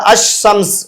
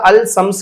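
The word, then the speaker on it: الشمس: கிடையாது அஸ்ஸலாம் தான் அது அஸ்ஸம்ஸ் இந்த இடத்துல அல்சம்ஸ் கிடையாது அஸ்ஸம்ஸ் தான் அதே மாதிரி அஸ்வலா அப்படித்தான் உச்சரிக்குமே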